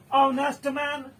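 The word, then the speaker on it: honest: ऑनेस्ट मैन जो है भले ही कंसोनेंट लेटर से शुरू हुआ हो, लेकिन इसका उच्चारण जो है वॉवेल स्वर होता है, इसीलिए इसके पहले एन लग गया है।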